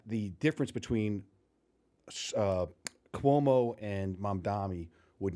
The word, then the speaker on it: Mamdani: I always say his name wrong. What was his name? Mamdani? Yeah, Mamdani.